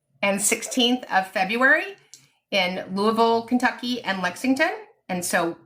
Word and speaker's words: Louisville: Oh, somebody said I pronounced Louisville correctly. It's it's Louisville.